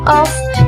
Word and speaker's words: O: terdengar lebih santai dan cara bacanya in general We call this word off ya of but in scotsh We call this ya oh well in this last